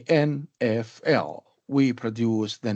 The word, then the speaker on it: NFL: So the NFL, we cannot use it as a word. Rather, we produce it or pronounce it as a string of letter names. NFL. We do not say Neffel or Naffel or Niffel. No, it is not possible, but we say NFL.